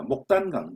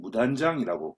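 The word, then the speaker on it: 牡丹江: 목단강, 무단장이라고 발음을 하죠.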